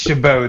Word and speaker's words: Chabot: It it's Chabot. The T is silent.